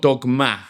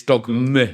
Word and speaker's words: Dogme: No, M-E, I think, because it's not Dogma, it's Dogme. It's an important difference.